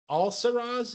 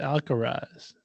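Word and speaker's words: Alcaraz: final between Carlos uh alsaras is how you pronounce it I believe it algorize like Alcatraz but different and Djokovic yeah whatever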